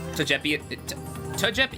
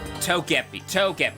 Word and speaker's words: Togepi: Tajepi, is that how you say their name? Tagepi? I've been always pronouncing it as fucking Tajepi.